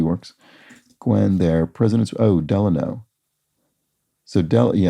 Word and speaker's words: Delano: Oh, Delano. So, Franklin Delano Roosevelt, accented on the first syllable, or California City, accented on the second.